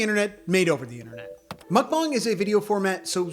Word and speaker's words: mukbang: So it's mukbang. Yeah, it comes from Korean and it literally means eating show.